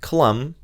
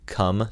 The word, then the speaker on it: Clum: And recently, a documentary filmmaker named Mike Clum, I had to redo that because I pronounced it Mike Cum the first time.